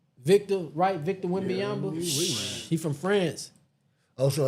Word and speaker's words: Wembanyama: Wembanyama. Victor Wembanyama.